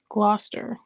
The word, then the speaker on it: Gloucester: Gloucester is how it's pronounced.